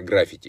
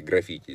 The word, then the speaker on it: граффити: сегодня слово граффити да многие даже думать что правильно граффити нет граффити правильно ударение граффити здесь мы как раз